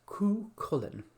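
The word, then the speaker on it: Cú Chulainn: If you are trying to say the Kellhound's battle armour, it's Cú Cullen. Cú like a pigeon, Cullen like the name.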